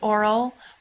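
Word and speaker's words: aural: pertaining to the ear note this um spelling here it's pronounced oral but don't get confused with o r a l meaning pertaining to the mouth clear pertaining to the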